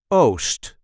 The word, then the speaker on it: oost: We call that oost. Oost. There is that longer O sound again.